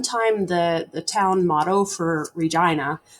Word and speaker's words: Regina: And at one time, the town motto for Regina was the town that rhymes with fun.